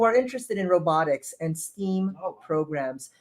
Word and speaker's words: STEAM: And beyond, who are interested in robotics and STEAM programs. That is not an error in pronunciation. Yes, in fact, we say STEAM because we've included A for the arts.